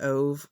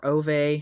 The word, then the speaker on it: Ove: I read A Man Called Ove, or Ove, however you want to pronounce it.